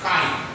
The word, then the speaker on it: chi: ये क्या है बेटा, इसको हम लोग पढ़ेंगे chi, क्या इसका प्रोनाउंसिएशन होगा chi, है ना।